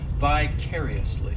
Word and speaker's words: vicariously: adverb which is vicariously this adverb has five syllables and the stress is on that third syllable is it on the third syllable I vaguely remember second syllable my bad the stress is on that second syllable well yes it is on the second syllable that third syllable it's like that that letter I just has that e sound and the fourth syllable has the schah vicariously and what this ad verb